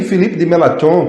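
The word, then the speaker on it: Filipe Melanchthon: e foi aí que felipe dematron que a gente se pronuncia assim que era um fiel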